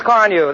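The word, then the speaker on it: Carnu: polish your family bus with quick polishing Johnson's Car New this week? Car New is spelled C-A-R-N-U.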